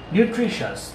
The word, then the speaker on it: nutritious: Okay, here nutri, nutri. There is accent upon R and I, R and I. And shas, nutritious. Here the accent is on R and I, but the